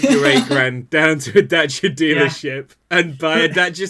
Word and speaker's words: Dacia: How'd you pronounce that? I was in the doing comments? a James May impression. He says Dacia. Okay. I have an Italian friend that shouts at you if you say Dacia.